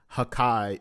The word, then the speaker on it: hakai: attack gives the pronounce the pronunciation hakai which then which when read out loud sounds like destruction the first part of